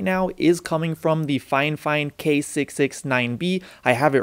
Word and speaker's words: FIFINE: fine fine instead of fifeine and the reason is because fine fine actually reached out to me one time and told me that the correct pronunciation is fine fine and not fi fine so that's what i'm